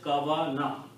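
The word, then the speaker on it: كون: It will be pronounced as kawana.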